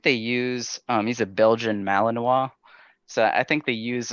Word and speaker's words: Malinois: I've never heard of a Belgian Malinois. Yeah, I didn't either. Because it's kind of spelled like Illinois is spelled, so I thought it was Malinois. Okay. But then people quickly corrected me.